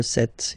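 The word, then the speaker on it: sept: 27, remember set, it was this P disappear, you don't pronounce it.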